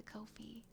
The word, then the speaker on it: Ko-fi: Yes, you need to add them to the Ko-fi. Is it pronounced Ko-fi? I think I've been saying it wrong forever. Is it Ko-fi? I know it's not Ko-fi. It's Ko-fi, Ko-fi, coffee. Ko-fi is like Wi-Fi.